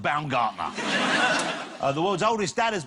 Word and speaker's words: Baumgartner: He also broke the world record for the amount of times he had to say to someone, no, not Baumgartner, it's pronounced Baumgartner.